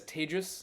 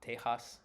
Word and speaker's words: Tejas: My name is Tejas. That's pronounced like advantageous for those of you who may struggle to say it. It is definitely not Tejas or anyway.